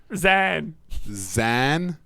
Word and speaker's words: Zan: My name's Zan. Zan? Are you kidding me? How do you pronounce that?